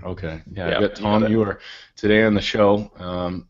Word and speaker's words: Ewer: want to mess it up how do i pronounce it it's you uh you are okay yeah tom you are today on the show um i'm up bright